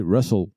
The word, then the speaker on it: rustls: Russell ou RustLS, mais c'est prononcé Russell.